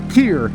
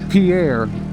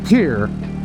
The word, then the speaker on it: Pierre: Ladybug informs me that it's pronounced Pierre, not Pierre, as in the French Pierre, but more like Pierre.